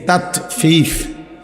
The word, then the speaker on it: তাতফিফ: তাতফিফ শব্দের অর্থ হলো, মানে তাতফিফ বাংলা কথা শব্দটা বুঝছি নি উচ্চারণটা, ত আকার তা, ত তাত, ফ দীর্ঘিকার ফি, ফ ফিফ, এই তাতফিফ এই হলো শব্দটা।